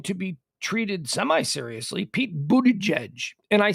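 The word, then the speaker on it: Buttigieg: take him seriously we we'd still be calling him booty gig we all know we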